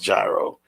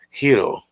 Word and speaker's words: gyro: actual pronunciation of it it's not pronounced gyro it's pronounced hiro so um or or